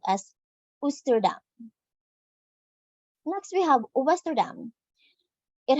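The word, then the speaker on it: Oosterdam: Dutch translation for Eastern compass point and is pronounced as ustuda next we have Western it has 1964 guests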